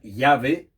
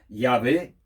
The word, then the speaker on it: Yahvé: Entonces nosotros hemos puesto entre las consonantes unas vocales para poder pronunciar el nombre. Por eso hemos venido añadiendo las vocales con Jehová o con Yahvé, que también es otro nombre que es válido, Yahvé, Jehová.